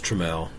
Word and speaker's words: Trammell: It's Trammell.